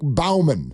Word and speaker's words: Baumann: Is it Bowman or Baumann? I don't know. Exactly. B-A-U. It should be Baumann. Oh. Yeah, it should be Baumann. Maybe it's Bowman, but if it is, he pronounces it wrong.